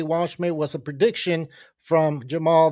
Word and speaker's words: Waldschmidt: It's tricky because it's got the D in there. It's the Waldschmidt.